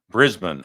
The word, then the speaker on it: Brisbane: Brisbane. Okay, that's the way you say it. Sorry I was butchering the pronunciation there.